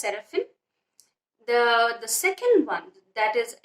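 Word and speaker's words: Serafín: The Serafin is pronounced as Serafin.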